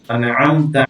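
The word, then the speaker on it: أنعمت: আনআমতা আলাইহিম সিরাতাল্লাজিনা আলাইহিম আইনটা আপনারা আনআমতা আইনটা উচ্চারণ করতে হবে আনআমতা আলাইহিম সিরা সদরে আমরা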